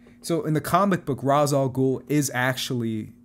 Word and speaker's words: Ra's al Ghul: Joker but mine is Ra's al Ghul from the comic so in the comic book Ra's al Ghul is actually it's mainly pronounced rage in the Batman animated series but he's essentially like